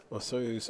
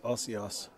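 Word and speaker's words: Osoyoos: Or you find out you've been mispronouncing it the whole time. All along. Yeah, Rick calls Osoyo's Osios. That's what he calls that in British Columbia. He said, what was that, Osios or something?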